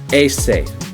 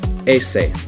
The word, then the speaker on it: ese: That's how you say in English, but in Spanish it's ese. Ese.